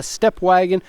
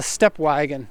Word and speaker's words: Stepwgn: Actually, in Japanese it's called a Stepwgn. If you look at the badge though, it's really Stepwgn. You see they took the vowels out, so it's a Stepwgn.